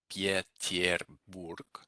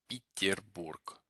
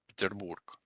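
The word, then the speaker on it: Петербург: Peterburg. Peterburg. So it's not actually, as you might assume, Pieterburg. It's more, these yes get reduced to an E. So Peterburg. Peterburg.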